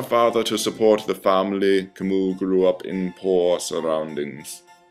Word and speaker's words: Camus: by examining the life of its author Albert Camus and yes it's pronounced Camus not Camus to MU was born november seven